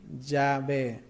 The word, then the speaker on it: Yahvé: En los días de la Biblia, el nombre era pronunciado como ¿qué? Yahvé.